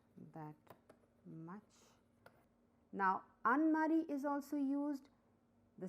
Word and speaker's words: あんまり: for more emphasis so this sound is nasal and more stresses over here like though n is written but m is pronounced but when we write